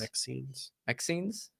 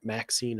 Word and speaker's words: MXene: MXenes? Yeah, I've heard it pronounced MXene. MXene. Like Maxine or MXene. I've seen that before.